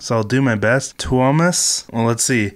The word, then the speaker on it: Tuomas: Tuomas? Well, let's see how to pronounce. Tuomas. Tuomas.